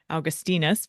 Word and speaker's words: Augustinus: And the way we pronounce it now is not how it was said then, and it would be more like Augustinus, probably something along those lines.